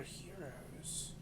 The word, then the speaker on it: gyros: What are heroes? They're spelled like gyros. Oh, Euros. But they're pronounced heroes.